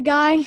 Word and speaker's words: Guy: Do you guys all still talk to Guy? And is there any chance of a Fugazi reunion? We all definitely stay in touch. We're either emailing or on the phone, and you pronounce his name Guy, and Guy is kind of the farthest away.